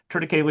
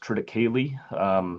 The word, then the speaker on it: triticale: Triticale is the hybridization of tetraploid durum wheat and diploid cereal rye. It is pronounced triticale.